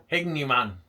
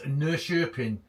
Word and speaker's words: Norrköping: Hignuman. No idea with that one. But I do believe the correct way to say where you are is Norrköping in Sweden.